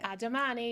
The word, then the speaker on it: A Domani: Is it Admani? Admani, you're saying perfectly.